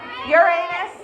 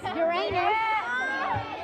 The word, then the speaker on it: Uranus: is Uranus it is Uranus or Uranus pronounced both ways Uranus all right I need